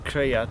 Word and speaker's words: Cread: And it's Cread. It's like a pronunciation of it's in the dictionary, creation, creative.